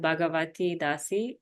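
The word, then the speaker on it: Bhagawati Dasi: And then you can get in touch with me through Instagram at, it's a bit complicated name, at Bhagavati Dasi, which is spelled BHAGAWATI.DASI.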